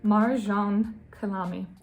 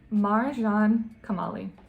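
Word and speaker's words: Marjan Kamali: Marjane Kamali. Guys, I used to have a speech impediment when I was a child, so sometimes that might slip out. Just bear with me. Marjane Kamali.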